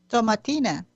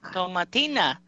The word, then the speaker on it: Tomatina: The Tomatina Festival Quest, that runs for another week. We have to ask Beatrice. What's the correct pronunciation? Tomatina. Yes. Yep. Tomatina.